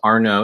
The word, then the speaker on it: Arnoux: And my name's Arnoux. It's spelled A-R-N-O-U-X, like X-ray.